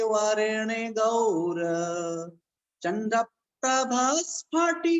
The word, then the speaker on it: चंद्रप्रभ: ऐसे चंद्रप्रभु भगवान चंद्रप्रभु आप सही उच्चारण बुला करें बहुत से लोग कहते चंदा चंदा प्रभु भगवान का नाम लेते हैं आप लोग तो चंदा प्रभु नाम नहीं कि चंद्रप्रभ नाम है इसको ध्यान रखना चंद्रप्रभ हर जगह बोलना